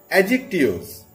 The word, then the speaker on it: adjective: As you can see on your screen, our today's topic is adjectives. Yes, first of all, I will try to correct your pronunciation. It's adjective. D is silent.